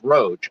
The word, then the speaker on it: Roage: Actually, it's Roage. Roage. Roage. Rogue. Yeah, that probably applies too. But Roage is just something that my brother used to call me when he would just pronounce the O in Roger as Roger, and then he just shortened it to Roage.